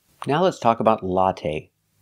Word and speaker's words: latte: let's talk about latte we say latte we don't say latte the last syllable is the long a it's not stressed but we use the long a like say and pay latte make a long sound not the short latte but the long a latte the first syllable ah latte it's the